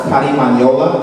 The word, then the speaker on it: carimañola: my favorite, is called carimañola. Can everybody say that? Carimañola? Not bad. You gotta roll your R's a little bit better.